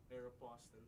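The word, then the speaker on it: Aéropostale: Paano ba pino-pronounce yon? Aeropostle po. Aeropostle.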